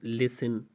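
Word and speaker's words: listen: तो आप कहते हैं फासिन, लिसन, हैसिन, ऑफिन, तो इन चारों मिसाल में आप देख सकते हैं कि टी के बाद ई एन आया हुआ है, तो यहाँ पे टी को साइलेंट किया जा रहा है, खामोश किया जा रहा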